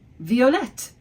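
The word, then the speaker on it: violettes: But what about the feminine plural? Violette. It sounds the same in its feminine form, but we just add an S to make it plural. So, violet, violette, violette.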